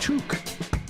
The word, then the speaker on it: Toke: Toke, pronounced took.